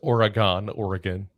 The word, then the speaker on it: Oregon: It's pronounced Oregon. Oh, sorry. I live in New Jersey. I'll pronounce it whatever way I want to. It's Oregon, like the trail.